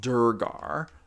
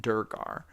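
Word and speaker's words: duergar: things and then you take them away it's pronounced durgar oh look at that Herminator at highkey solved that for me with just one simple sentence he taught me how to say it durgar um Robert Evans you are correct and that's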